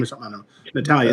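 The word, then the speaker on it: Natalya: It's kind of a funky, is the emphasis on a different syllable than you're used to.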